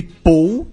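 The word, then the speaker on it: Pol: Eh, em Catalun tem duas maneiras de dizer Paulo, pau e pou p O L.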